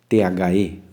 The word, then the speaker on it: the: T-H-E, the, que significa o, a, os e as.